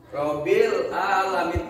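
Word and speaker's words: رب العالمين: Jadi dibacanya Rabbil alamin, a-nya jelas.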